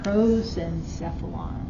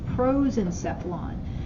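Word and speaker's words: prosencephalon: Proenphylon. Can you spell that again? Mhm. P R O S E N C E P H A L O N. That's your pros and sephflon.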